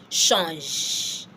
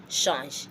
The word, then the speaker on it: change: The CH being pronounced as sh.